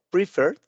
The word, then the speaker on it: preferred: Muy bien, después prefer, que en este caso sería preferred. Nuevamente, de la R brincamos a la D, no pronunciamos la E, es preferir.